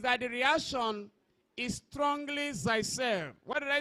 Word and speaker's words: Zaitsev: The pronunciation says Zaitsev. Now the pronunciation as Zaitsev. Says Zaitsev.